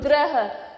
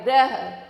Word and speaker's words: ग्रह: ग का उच्चारण होगा ग्रह। तो आपको समझ में आ रहा होगा, जैसे मैं बोल रही हूँ ग्रह, ग आधा है और र पे ज्यादा भार है, ग्रह, ग्रह।